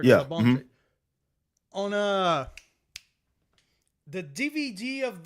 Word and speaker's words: Labonte: Is that how you pronounce it? Right. Labonte on uh the DVD of that gural singing coach.